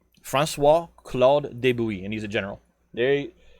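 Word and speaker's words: de Bouillé: u i l l e d francois claude deboui and he's a general there you uh you've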